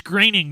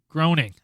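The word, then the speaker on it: Groening: interview about Futurama and it's Matt graining 100% it's graining not groaning that's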